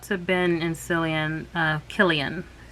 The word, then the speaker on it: Cillian: ben and cillian uh killian with a c but it's pronounced like a k and my heart went